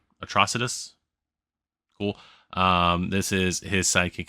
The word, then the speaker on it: Atrocitus: Because I always call it atrocity or something like that, but atrocitus.